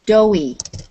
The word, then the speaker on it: doughy: be through okay so this word here is doughy so it's the same as do but you add a y on it and it becomes an adjective and doughy dough sometimes